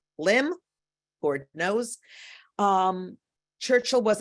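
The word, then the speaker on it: Lympne: in Kent Port Lim spelled l-y-m-p-n-e mind you but it's pronounced Lim Ford knows um Churchill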